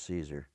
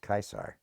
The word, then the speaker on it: Caesar: a r is pronounced kaisar we say Caesar but the C is hard in Latin it's Kaiser and so